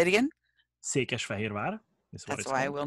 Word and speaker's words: Székesfehérvár: And can you pronounce it? Székesfehérvár is the name. Say it again. Székesfehérvár.